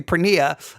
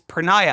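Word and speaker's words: porneia: I I would always say pnea, but it's prenayiah, I think, is the way it's actually pronounced.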